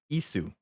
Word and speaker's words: Ys: subreddit for this series in Japanese it's pronounce ISU i i s u ISU so I guess